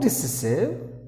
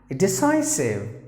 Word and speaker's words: decisive: No decisive. It is decisive. So only this particular E is silent. This particular sound here you have to say like I.